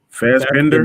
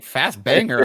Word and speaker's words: Fassbender: Fassbender. That's his name. Oh, okay. That's I was like fast banger.